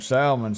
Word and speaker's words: salmon: says she wanted some salmon so I kept trying to tell that waiter she wants salmon she wants something she turned around the L is silent and I said well